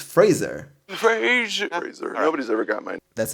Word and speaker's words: Fraser: sure missed him also we've been saying it wrong apparently it's Fraser nobody's ever got mine that's embarrassing sorry Brandon Frazier I mean Fraser Bill